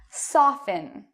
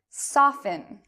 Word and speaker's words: soften: l e t n you do not pronounce the T in these words but what about often